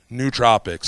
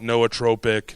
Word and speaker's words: nootropic: how many of you have heard of nootropics nootropics some people call it Noah tropic new nootropic but it's nootropic ultimately and and pronunciation really doesn't matter how many of you